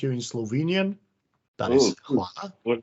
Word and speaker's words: hvala: I don't want to pronounce it wrongly. You mean in Slovenian? Yes. This, you do hvala.